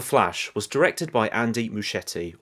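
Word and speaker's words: Muschietti: was directed by Andy muschetti or other people would pronounce his surname muskete so I'm hoping one of them is correct director of the remake of it from 2017 and it chapter 2 from 2019.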